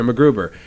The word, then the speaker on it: MacGruber: is it my saying it right macGruber yeah macGruber and that'll be cut for and i want